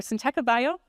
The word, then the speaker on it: Syntekabio: have questions um again we're syab bio is the right way to say it and my name is